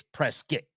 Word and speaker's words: Prescott: they have no problem coming at you it's press get that's like boisey Idaho if you say Boise